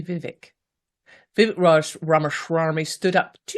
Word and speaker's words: Vivek: he pronounced it Vivek, like ache. Vivek. Yes, I would say Vivek.